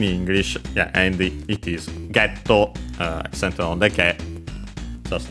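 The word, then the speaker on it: ゲット: In this case, let's say better by hitting, because then we have item getto, of course, item get from English.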